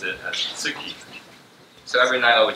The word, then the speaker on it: tsuki: And as you will see here, moon in Japanese, as you will pronounce it, as tsuki.